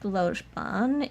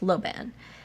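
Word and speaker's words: Lojban: know how to speak logeban if that let's is um it's just pronounced Loban is a logical constructed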